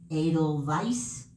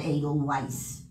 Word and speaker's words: Edelweiss: on broadway the sound of music 1950 incorrect pronunciation edelweiss not eagle weiss i think it's a vice versa all right